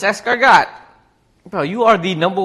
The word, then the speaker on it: escargot: Escarot. It's escargot.